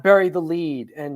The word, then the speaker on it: lede: The lead is It's LED. LEDE is how you spell lead. LEAD. Yes, we spell it that way. We don't. Oh. Yeah, the newspaper people wanted to be funny and sometimes spell it LEDE.